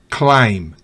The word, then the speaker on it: climb: Por ejemplo, si B va después de M al final de una palabra, no se pronuncia. Por ejemplo, bomb, dumb, climb, lamb, thumb.